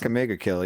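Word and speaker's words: Akame ga Kill: Another cool one was Agamega Kill. I never know how to pronounce it. Yeah. No, you got it. SS Akamega Kill.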